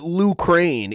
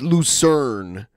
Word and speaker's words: Lucerne: Yeah, he's adding he calls it Lucrane. It's Lucerne is how you say it.